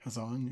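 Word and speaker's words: Hasan: Hazan, yeah.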